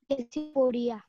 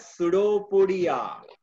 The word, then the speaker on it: pseudopodia: Sir, Pachypodia. It is known as pseudopodia. P is silent there. You have to pronounce it as a pseudopodia.